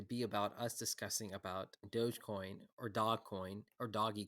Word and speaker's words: Dogecoin: hour it turns out it is called dogecoin yes and this um but i still like to say doggy coin because it looks like it's dog i mean it's